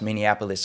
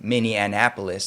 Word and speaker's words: Minneapolis: through that story and pronounce Minneapolis correct because I'm one of the ones who grew up saying Minnie Annapolis I don't know where